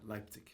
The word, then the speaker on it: Leipzig: Yeah, Leipzig.